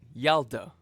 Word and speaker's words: Yalta: Okay, so the Y is not silent. Yalda.